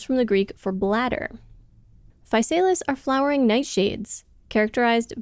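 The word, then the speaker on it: Physalis: privacy secrecy and modesty the gp2 is the falis looked up the pronunciation of that several times yes that is how they say to say it falis A genus of around 70 to 100 species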